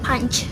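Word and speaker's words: पाँच: Di bahasa Hindi kita kenal sebagai punch. Jadi kayak ada kol-kolah gitu di sini, jadi punch gitu.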